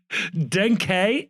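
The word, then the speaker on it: Denkey: I always love this because we get the official pronunciation, and Denke is the way you pronounce it, but they also clarified that Kevin is pronounced Kevin.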